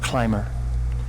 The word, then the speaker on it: climber: the next one climber climber climber B assignment in here so it's climber climber is someone who'll climb mountains for example or someone who is climbing something high so climber to be a letter in here is silent this is the first